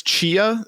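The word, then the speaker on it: Tchia: Is this Chia? Is that the T is silent?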